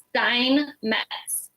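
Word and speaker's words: Steinmetz: us how to say your last name also Stein mats how do you spell it t e i n m e t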